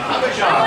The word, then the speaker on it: Abidjan: I can't pronounce that - Abidjan, thank you.